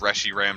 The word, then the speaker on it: Reshiram: way better and good cuz rushy Ram just sounds ugly and stupid and dumb and I refuse that it's the official pronunciation that's like the one Pokemon name I